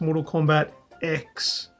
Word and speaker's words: Mortal Kombat X: spell it phonetically it's it's just an x the letter X but yeah SP that's